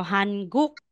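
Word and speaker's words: 한국: so hanguk Tama po pero po meron tayong pronunciation rule na kung ang final position na si neon followed po siya sa giok hindi na natin babasahin na letter N kundi ng so aside na Sabihin nating Han magiging hang hangg Yes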